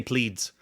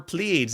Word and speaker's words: Pleiads: I'm just going to say Pleiads. Make it one syllable.